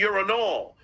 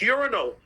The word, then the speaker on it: urinal: when I'm in the urinol oh so John it's urinal yeah oh really Lady K